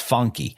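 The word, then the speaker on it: Phunky: the pauny pahun NAD funky spelled with a pH so it looks like pahun but it's pronounced funky funky Nomads and then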